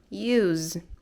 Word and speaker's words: use: Use, ok? Aí aqui nós vamos pronunciar com o som de Z, porque é verbo.